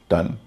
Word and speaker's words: ton: TON टन, WON वन, MON DAY Monday में जो MON आता है मन, यहाँ भी MON का उच्चारण मन होता है।